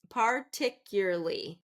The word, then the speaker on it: particularly: Particularly. Particularly. Particular. Particularly. Now, I'm going to have a hard time. Particularly. So, we're going to be second syllable stress.